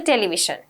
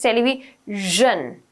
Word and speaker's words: television: right pronunciation please because it's not a television okay it's television television okay you listen